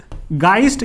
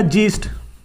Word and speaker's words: Geist: इसको लूजली एक टर्म दिया जाता है, ठीक है, इसका प्रोनाउंसिएशन आप देख लीजिएगा, गाइस्ट या जीस्ट.